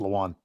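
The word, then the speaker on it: Lewan: It's Luan.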